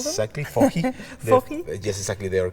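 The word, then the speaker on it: FOJI: Exactly, fohi. Fohi? Yes, exactly. They are the I can't pronounce it, so I won't try.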